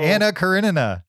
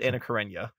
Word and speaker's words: Anna Karenina: crania grenada i think no you're throwing an extra nut in there karen in a yeah you got me doing it so i said karinina no it's you're that's not right just say karen it'll be easier put a little anna karenina that's how you say it uh okay i disagree